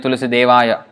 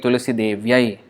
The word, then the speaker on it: Tulasī-devyai: No, that's wrong. Vrindāyai, yai is for female, Vrindāyai, whereas Kṛṣṇāya is for male. So it's not Vrindāya Tulasī-devāya, Deva or Devāya, it is not male, it is female.